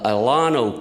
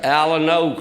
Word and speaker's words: Alano: people that go to the ilano club are pronouncing it all wrong it's the alano club you all just thought